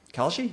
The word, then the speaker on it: Kalshi: Kalshi?